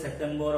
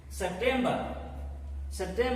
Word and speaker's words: September: It is not September, October. September, last R is silent. Often in many English words, the last letter, if it is R, or even in the middle there is R, this R letter is silent very often. The same is the case. R is silent. Ba, B-E-R, ba. September.